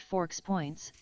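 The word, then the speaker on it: FoXPoints: A 100 points system pronounced forks points formatted as force points with specific capitalization. Capital F, lowercase O, capital X, lowercase P, O, I N, Ts.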